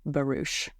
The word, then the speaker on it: barouche: and description of a barouch. Yes. And when you say when you say bar you have to say it like that. Barouch. Barouch. Give it give it the gravitas it deserves please.